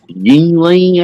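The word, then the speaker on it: Yuengling: But yeah, I appreciate y'all's Yingling, I guess that's how you say it.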